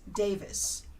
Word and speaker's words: Davies: It's Rhys Davis because he's a good Welshman, and so you've got to go listen to it because Yes.